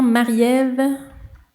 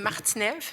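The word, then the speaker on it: Martine-Ève: J'inviterai maintenant Marie-Ève, si je prononce bien, ou peut-être pas. Oui, alors c'est Martinève, mais c'est correct, Marie-Ève, je le Désolée, prends puisque ça m'arrive souvent.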